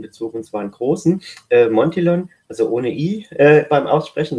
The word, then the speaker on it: Montillon: Also der Familienname spricht sich ganz deutsch aus und wir sagen immer Montillon, so wie Champignon und nicht Champignon.